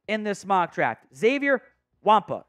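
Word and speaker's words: Xavier Watts: this mock draft, Xavier Wampa. It's kind of like the Yeti creature from Star Wars. That's kind of how it's pronounced. Not quite 1-to-1, but it's pretty close to it.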